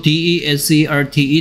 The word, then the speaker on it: desert: 된다 사막이 됩니다 반면에 S 뒤에 있는 e의 강세를 줘서 desert라고 읽으며 발음이 디저트가 되면 뭐하다